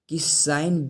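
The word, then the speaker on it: cos: कॉस ए बटे टू, इसको हम लोग कोस नहीं पढ़ेंगे कॉस पढ़ेंगे, क्योंकि दो कंसोनेंट के बीच में अगर ओ आता है और लास्ट में ई नहीं आता है तो ओ का उच्चारण ओ न करके हम लोग औ करते हैं, याद रखना है।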